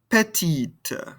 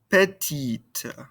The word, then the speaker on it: petite: to hear it however adding this vowel at the end makes us pronounce this ending consonant this t that chord hepatitis wants you to play petty petite petty petite excellent next we have